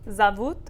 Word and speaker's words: зовут: So we write zovut, which means they call. Меня зовут. But we say zovut. Go ahead. Zavut.